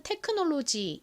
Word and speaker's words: technology: 의미는 기술입니다 기술 자 그런데 한국식으로는 테크놀로지이지만 미국식 영어 발음으로는 어떻게 발음이 되나요이 오 부분이가 아니라이 단어에서 첫 번째 오는 아 소리가 나고 두 번째 오는 어에 가까운 소리가납니다 그래서 와 같이 발음이